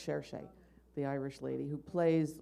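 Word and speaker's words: Saoirse: It's pronounced Cherche, the Irish lady who plays Louisa May Alcott.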